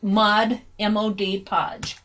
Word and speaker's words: Mod Podge: Mod Podge Mod Podge I'm learning how to pronounce that correctly for the benefit of those who care so and evidently there are some people out there who do care so it's mud m.o.d podge so I'm going to do